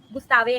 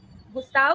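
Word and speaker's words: Gustave: गुस्ताव का सिर्फ वी नहीं है। वी के आगे एक इ भी लगता है। गुस्तावे हो जाता है वो। पर हम उसको गुस्तावे ही प्रोनाउंस करते हैं।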